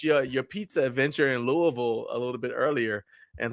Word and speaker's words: Louisville: But technically, that's closer to the correct pronunciation anyway because technically it's French. It's Louisville, right? It's just that they say Louisville here.